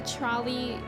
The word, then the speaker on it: Trolli: Yeah, it's Trolley, but it's spelled Trolli.